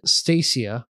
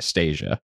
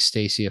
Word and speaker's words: Stacia: So Marry Me is about Stacia, a Britney Spears-esque pop star. This came out in 2007. I called it I was pronouncing it Stasia.